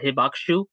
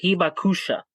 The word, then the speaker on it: hibakusha: I believe if I'm correct in saying it, it's a hibaku. Oh, my bad. It's the hibakusha. That's that's how you pronounce it.